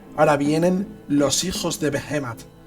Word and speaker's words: Behemat: nombre de este ejército, porque tendemos a decir hijos de Behemat. Viendo vídeos extranjeros veo que se decantan más por pronunciarlo llano. Además, en inglés la mayoría de las veces, la mayoría de las palabras son llanas, así que vamos a decir Behemat.